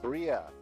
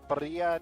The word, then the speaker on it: birria: But when you get the mini tacos, they call them birria tacos, right? Or birria? Birria, I'm pretty sure that's how they say it. Birria. Got to roll the R, I guess.